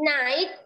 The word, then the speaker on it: night: Jadi cara bacanya ini GH-nya nggak dibaca, coba teman-teman. Ini GH-nya jangan dibaca. Jadi bacanya adalah 8, night, sama tight.